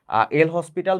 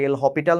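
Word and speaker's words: L'Hôpital: এল হসপিটাল বা এল হপিটাল নামের একটা রুল আছে, প্রোনাউন্সিয়েশনটা হপিটাল হবে, এল হপিটাল রুল।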